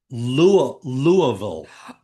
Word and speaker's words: Louisville: The correct uh, it's called Louisville.